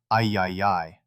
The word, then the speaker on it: AAAAAI: While Elon Musk proposed christening the new authority the AI Associated Institute of America, Inc., or AAAAAI, pronounced I-YI-YI.